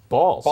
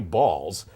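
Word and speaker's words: Baals: The old mayor there, Harry Balls. Harry Balls. Yeah. You can say it's spelled B-A-A-L-S, and they're looking to name a building or something after him.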